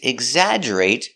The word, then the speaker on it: exaggerate: caught a fish this big exaggerate example tabloids exaggerate their stories they want to be Sensational pronunciation exaggerate e g egg Z eggs eggs